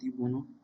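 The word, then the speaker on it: de Bono: इट is developed by Edward डी बोनो, बूनो बोलते हैं इसे, एक्चुअली प्रोनाउंस करते हैं एडवर्ड डी बोनो।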